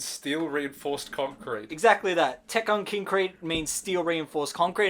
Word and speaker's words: Tekkonkinkreet: it's basically like a it's a child misinterpretation of the like it's like it's not actually pronounced like that it's how a child would pronounce it like kind of wrong so let's talk about